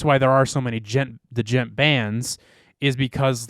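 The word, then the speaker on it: djent: It's just that, like, it's called gent. It's like a specific kind of metal called gent, which is, I think it's spelled D-G-E-N-T, I want to say. Maybe D-J, gent.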